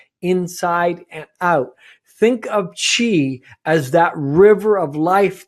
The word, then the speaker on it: Qi: a restoration number one is nurturing the Chi Chi is spelt Qi and she is the vital energy